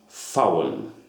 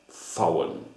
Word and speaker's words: VAUEN: It is pronounced VAUEN with a V without a voice, like an F. You should pronounce it like FOUEN, VAUEN.